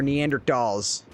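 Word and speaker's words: Neanderthal: We're not cavemen or Neander dolls with a T. Tall. It's a th is silent. Oh, snap.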